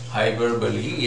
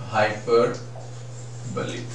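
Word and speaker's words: hyperbole: बोल सकते हैं क्या, हाइपरबली या एग्जैजरेशन का यूज यहाँ पर किया है पोएट ने, ऐसा मैं कह सकता हूं. हाइपरबली, जिसे हाइपरबोल लोग कहते हैं, एग्जैक्टली हाइपरबली ऐसा हम इसको प्रोनाउंस करते हैं.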